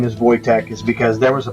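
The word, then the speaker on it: Wojtek: it's not wch it's voch that's how the Polish pronounced this name so just a little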